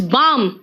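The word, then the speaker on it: balm: इसलिए प्लीज आप क्या करोगे, बोलो क्या, इट्स बाम, पाम, पाम मतलब हथेली है ना, टॉक एल साइलेंट है, वॉक डान को कहते हैं आर्म्स,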